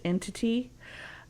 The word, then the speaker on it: NTT: They were also promised, this really cool brand new gaming engine they were going to be using called NTT, pronounced entity.